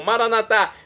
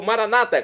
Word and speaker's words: Maranatá: E agora eu clamo, Maranatá, como dizemos nós católicos, ou Maranata, como dizem nossos irmãos das comunidades separadas, evangélicos ou protestantes.